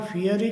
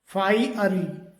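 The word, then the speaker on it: fiery: इसी प्रकार से एक और प्रोनाउंसिएशन है एफ आई ई आर वाई इसे कई बार फियरी करके बोला जाता है जबकि इसका सही जो प्रोनाउंसिएशन होता है फाइरी फाइरी इसी तरीके से एक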